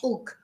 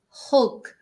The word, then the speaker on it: hug: or an Embrace again remember if you're learning English hug we pronounce the hate not ug hug Embrace and in Spanish